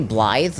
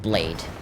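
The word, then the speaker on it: Blaidd: Like, It's actually Blythe, not Blade.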